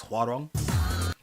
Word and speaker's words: Huang: Again, pronouncing his name wrong. It's how wrong. It's Huang.